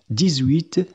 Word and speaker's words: dix-huit: أما بالنسبة للرقمين 18 و 19، فإن الحرف ' x' يُنطق 'z'. نحن نقول "dix-huit.